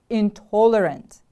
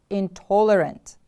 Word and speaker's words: intolerant: different from your own intolerant the stress is on the second syllable repeat after me please intolerant intolerant good job now it's